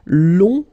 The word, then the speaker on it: long: So keep in mind that long, in that case, you will have to add this U and then E. Okay, so long, remember you don't pronounce the final G, will become longue.